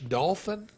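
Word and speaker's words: Dauphin: Dolph like the fish dolphin oh you say it like dolphin but it's d-a-u-p-h-i-n dolphin probably dolphin dolphin but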